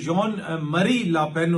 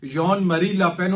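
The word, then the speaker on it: Jean-Marie Le Pen: इनके जो फादर थे लापेन साहब, जॉन मरी लापेन उनका, गालिबन अभी इफ my French pronunciation is right तो जॉन मरी लापेन उनका नाम था।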